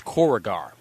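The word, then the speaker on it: Korugar: Actually it's cor it's corugar. That is the actual pronunciation of of of the home world because I remember them actually pronouncing it like that on JLU if I remember correctly.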